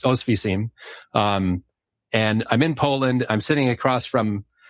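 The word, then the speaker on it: Oświęcim: I was on the train it led me to, I think it's pronounced Ostwiecim.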